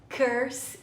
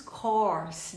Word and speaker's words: course: Nós escrevemos course. Dei uma olhadinha no exemplo de baixo. I love my English course. I love my English course. Course. É um R aberto. Não é curse.